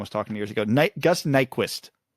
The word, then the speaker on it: Nyquist: Gus Nyquist. Apparently his last name is not pronounced particularly close to Nyquist. Apparently the Y is a U sound in Swedish.